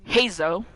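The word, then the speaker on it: Heizou: You'll come here and you'll meet up with Hazo, because apparently that's how you say his name.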